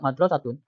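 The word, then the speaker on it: مدرسة: Kenapa di sini dibacanya la tilka madrasatun, sedangkan di sini mudarrisatun? Karena lihat konteks kalimat, ya. Ini tentang masjid, ya. Masa masjid sebanding dengan guru perempuan? Makanya oh ini pasti sekolahan. Madrasatun.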